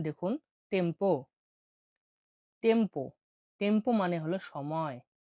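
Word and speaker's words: tempo: দেখুন টি। টি এর উচ্চারণ ইতালিয়নে হয়ে থাকে তের শিকারে তি হিসেবে। তিটা উচ্চারণ হয়ে থাকে তি হিসেবে। উদাহরণ দেখুন টেম্পো টেম্পো টেম্পো মানে হল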